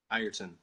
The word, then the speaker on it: Ireton: Ireton. Who? Ireton. Ireton. See, it's spelled I-R-E-T-O-N, so it's backwards. Backwards? Well, I'm saying it sounds like there's an I-E-R. I-R-ton. Not, it looks like I-re-ton.